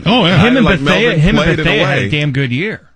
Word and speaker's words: Bethea: Him and Bethea had a damn good year. Or Bethea. Yeah. It's Bethea.